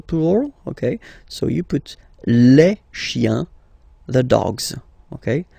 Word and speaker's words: chiens: Remember, chien, singular form, chien, same pronunciation, but you put this S, okay? Final S, not pronounced.